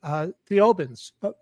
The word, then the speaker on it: Thiaoouba: Desmarquet was abducted by Thiaoubans. Thiaouba, is that the planet? Yes. Did I pronounce it correctly? Yes.